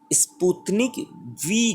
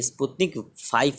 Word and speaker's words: Sputnik V: तो देखिए, स्पुतनिक वी जो कहा जाता है, ये सच में ये वी है, ये 5 नहीं है। इसे बहुत सारे लोग प्रोनाउंस करते हैं कि ये स्पुतनिक 5 है, रोमन अक्षर का, लेकिन ये 5 नहीं बल्कि वी ही है, ऐसा ये